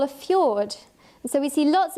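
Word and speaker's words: fjord: what we call a feud and so we see lots of these up in Alaska it so originally a Norwegian name which is why it's spelt funny and these are just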